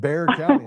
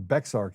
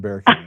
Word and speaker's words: Bexar: They said Bear County and I was like Bear Bear. I'm not in Bear. I'm in Beexar County. They're like, "No, you're in Bear County."